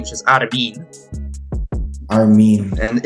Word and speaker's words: Armin: Like, for example, he also explained how to pronounce Armin's name, which is Armin.